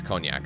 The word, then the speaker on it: cognac: whiskey where's a cognac I think this the g is silent in that I think conac it's conac sorry I should know that